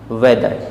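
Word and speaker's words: whether: silent हो जाता है नेक्स्ट वर्ड दिया हुआ हमारे पास वेदर डब्लू एच ई टी एच ई आर यहां भी डब्लू के बाद एच आ रहा है इस कारण से साइलेंट हो जाएगा और वेदर मीस चाहे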